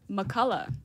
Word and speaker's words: McCullough: McCullough. No G H.